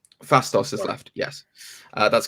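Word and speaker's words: Phastos: and who else is left porthos is it pronounced fastos fastos is left yes uh that's correct so yeah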